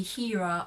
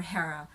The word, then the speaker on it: Hera: when is it here the british say hira okay british pronunciation of that name if you're referring to the the queen goddess of olympus the wife of zeus so hera that's american hera is british so you can either be pronouncing it hera or hera so the filipinos are